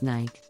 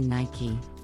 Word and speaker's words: Nike: with Nike many people mispronounce this brand as Nike but the correct pronunciation is actually Nike the name Nike comes from the Greek goddess